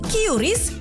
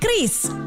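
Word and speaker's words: QRIS: Ada yang menyebut Kyuris, Kiris atau ORIS. Kepala Grup Departemen Kebijakan Sistem Pembayaran DKSPBI, Fitria Irmi Triswati mengungkapkan pengucapan yang benar adalah Kris.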